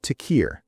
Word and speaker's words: Tekir: I'm Tequir. It's spelled T E K I R.